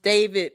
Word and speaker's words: D4VD: It's pronounced David, but spelled D4VD.